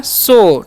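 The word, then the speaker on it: show: कैसे पढ़ना है समझिए एस एच का उच्चारण करना है तो लावे स ओ डब्लू का चान करना है ओ तो हो गया शो ठीक है साउ नहीं पढ़ना है शो मतलब क्या होता है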